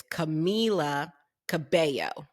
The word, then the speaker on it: Camila Cabello: And it does appear that it is Camila Cabello.